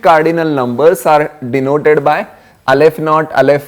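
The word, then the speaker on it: aleph-null: yeah this is how how is it pronounced Alf not okay this is the pronunciation of not is same as noot okay Alf not it's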